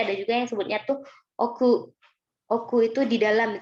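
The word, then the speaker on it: 奥: Cara bacanya itu oku.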